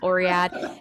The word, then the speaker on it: Oryad: And so I spelled it with a Y instead, just for pronunciation purposes for American audiences, instead of saying Oread, Yeah. Oryad.